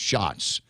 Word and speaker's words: Schatz: I keep calling him Schatz. He says it's probably pronounced Shots.